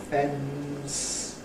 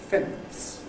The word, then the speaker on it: fence: So where I say ‘fence’ , , and , people instead say , ‘sitting on the fence’ .